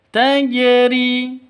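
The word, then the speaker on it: تجري: Karena memiliki tanda diakritik sukun, maka hukum qalqalah berlaku. Mengapa? Karena huruf "jim" adalah salah satu huruf dari qalqalah. Jika sukun seperti itu, "tajri", maka harus dipantulkan pada huruf jim.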